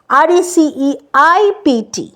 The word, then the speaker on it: receipt: তারপর হচ্ছে রিসিট, RECEIPT, পিটা কিন্তু প্রোনাউন্স হচ্ছে না, CEI এর পর টিতে চলে যাচ্ছি, পির কোনো প্রোনাউন্সিয়েশন নেই।